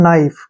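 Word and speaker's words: knife: आ गया तो हम क्या करेंगे के का उच्चारण नहीं करेंगे इसको पढ़ेंगे हम नाइफ क्या पढ़ेंगे नाइफ नाइफ नहीं पढ़ते हैं नाइफ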